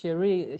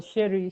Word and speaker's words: Cherie: Is supposed to be like pronounced Cherie. Cherie is something French mm, for sweetheart or something like that. So my dad used to call me sweetheart in French. So Cherie, Cherie. But of course, we didn't know that it was like supposed to be pronounced in a French form, so they could just call Sherry, Sherry, Sherry.